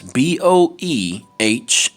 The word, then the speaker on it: Boehner: That's Boehner. There's only one way to really pronounce that, and that's Boehner.